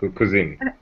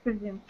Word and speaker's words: cousin: My aunt's children are my aunt's children, my cousin. Как читается кузин? Cousin. Cousin. Кузин это кухня. Cousin. Казан, хорошо.